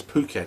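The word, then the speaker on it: Phuket: name suggests fuk um I think it's puket it's pronounced there a place in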